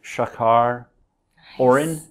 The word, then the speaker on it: Shachar Orren: I'm here with Shachar Orren. Very good pronunciation of my name.